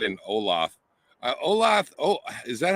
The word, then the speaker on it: Olathe: Olathe, oh, is that how you pronounce that?